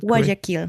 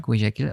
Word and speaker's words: Guayaquil: So there are flights going from the capital, Quito, via Guayaquil, if I pronounce it Guayaquil. Guayaquil, okay, like that place.